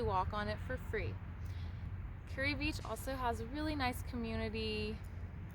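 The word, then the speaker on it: Kure Beach: And then just right down the road is Curry Beach. It's pronounced Curry, not Kerr Beach. The locals will definitely tell you're a visitor if you call it Kerr Beach.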